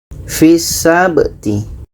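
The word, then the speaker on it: فِي السَّبْتِ: Huruf F ini awalnya panjang karena ada huruf ya yang tidak diucapkan. Berikut adalah ya yang tidak diucapkan setelah kasra. Oke, ada huruf " ya" yang tidak dibaca setelah huruf "kasra". Namun akhirnya menjadi pendek karena terhubung dengan sebuah huruf dengan shadda.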